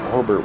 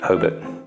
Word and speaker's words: Hobart: Hobart was such a dead zone with all the